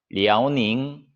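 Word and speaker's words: 辽宁: 그 다음에 요녕성, 리아오닝, 그다음에 흥룡강성, 헤이룽장이라고 합니다.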